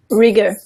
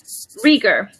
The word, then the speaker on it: Rieger: Rieger. Rieger. So it is the German pronunciation, right?